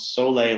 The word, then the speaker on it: Soleil: the announcements today for a new development called Soleil Lofts. That's spelled S-O-L-E-I-L.